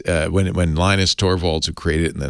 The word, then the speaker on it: Linus: eunuchs it's uh when linus torvalds who created in the 90s created it he said yeah i always call him linus but he writes he pronounces my name is lena storvalds i pronounce lenox linux